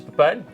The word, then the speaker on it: Pepijn: This is Pine. Hello everybody. Finally, someone who can pronounce my name correctly, being a fellow Dutchman.